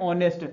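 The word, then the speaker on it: honest: तो article plus noun इसको पढ़ते ऑनेस्ट ए साइलेंट रहता है ठीक अगला सेंटेंस लिखते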